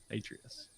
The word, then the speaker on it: Atrius: master's name atrius atrium atrials how do you spell that you wouldn't you wouldn't know you wouldn't know yeah i did a t-r-i-u-s atreus and it was the lurk woods right yep